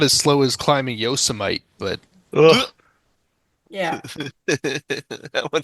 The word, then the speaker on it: Yosemite: Yosemite is okay. the correct pronunciation.